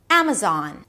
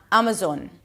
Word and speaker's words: Amazon: You close it with an N, bring the tip of the tongue up, and make sure your lips are apart. Zon. Amazon, not Amazon.